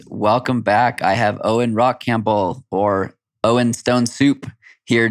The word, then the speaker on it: Rachampbell: So Owen Rachampbell is my name. Stone Soup is just how I introduce myself as a way to say my name is Rachampbell, how you pronounce the name.